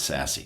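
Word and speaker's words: SASE: For example, we're technically an SASSE, which is some people pronounce Sassy, Secure Access Services Edge.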